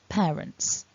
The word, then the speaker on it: parents: at the beginning and you might think it's a single vowel it's actually double it's air not a pair parents great work today don't